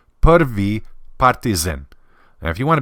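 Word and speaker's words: Prvi Partizan: the proper way is perv say the E perv partisan now if you want to be super Serbian about it you can pronounce it as perv partisan it means first partisan all right the first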